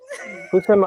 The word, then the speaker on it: Houssem: Houssem, Aouar.